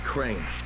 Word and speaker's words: Crane: the video store no my name is crane crane rhymes with train and gray and serve and grate and wave and play and the other kind of